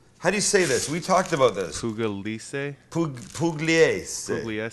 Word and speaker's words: Pugliese: Pugliese. Pugliese.